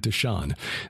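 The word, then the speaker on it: Dishan: gal of andreas d-i-s-h-o-n and d-i-s-h-a-n deshone and deshawn these are the chiefs of the horites the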